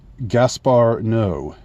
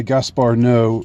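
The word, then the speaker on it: Gaspar Noé: director's name and the the director's name is Gaspar no um and I'm not sure if I pronounced that right.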